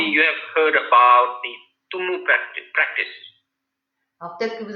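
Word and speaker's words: tummo: Maybe just write on Google, YouTube, T-U-M-M-O, Tumu.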